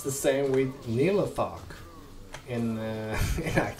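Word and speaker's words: Nihlathak: when we played this game, we always said Nithica. I don't know why, but yeah. So I am having such a hard time pronouncing characters in this game by their real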